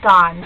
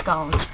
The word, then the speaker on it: scone: They pronounce it scones here instead of scones, like they do in the U.S., and I don't really know why.